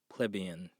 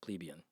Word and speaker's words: plebeian: just to be clear in both the english and the american uh dictionaries it's pronounced plebeian or plebeian from pleb but it's a free world i want to call it plebeian i'm going to call it plebian it's my thing anyway